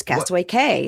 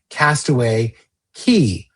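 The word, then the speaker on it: Castaway Cay: It follows traditional Caribbean or Caribbean nautical pronunciation of key.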